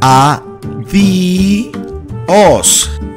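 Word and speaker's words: adiós: The correct pronunciation is adios. Adios. So make sure that you pronounce it as adios. Don't say adios! Because it is adios!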